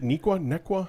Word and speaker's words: Neuqua: and Neuqua? Is it Nequa? How do you pronounce it? Nequa Valley.